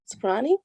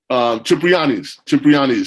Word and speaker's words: Cipriani: at he was eating at that place on Soprani? Cipriani's.